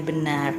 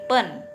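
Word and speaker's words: běn: Nah, kita akan membahas bagaimana membaca pinyin dengan benar, ya. Nah, pinyin B E N itu bukan dibacanya ben ya, tapi pen p e ya.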